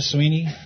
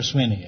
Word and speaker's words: Swinney: Sweeney? Right. You pronounce it Sweeney or Swinney? Swinney.